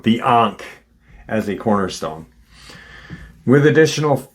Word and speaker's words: Ankh: from deep space and Sirius B, utilizing the Anka as a cornerstone. Can't believe I'm pronouncing it wrong. The Ankh as a cornerstone, with additional purposes of strengthening